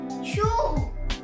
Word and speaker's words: choux: No, no, no, no, es que se pronuncia así, se dice choux.